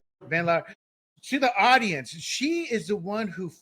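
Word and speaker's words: Van Laar: Real quick, uh, to give props to Red State, I always mispronounce her her last name, Jennifer Vandlar. Vanlar. Vanlar.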